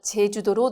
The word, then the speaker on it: 제주도: 그 죄는 아이죠 그런데 우리가 제주도로 놀러 간다 할 때 그 제주도는 어입니다 그런 것처럼 제주도 할 때는 제트 발음이 나는 것처럼 살짝 해야 돼요 제주도를 세계적인 관광도시로 만들겠습니다이